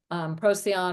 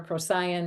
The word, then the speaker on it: Procyon: And then the gateway of our ancestral origins, consisting of Sirius, Procyon or Procyon, depending on how you want to pronounce that, and Betelgeuse, is well below the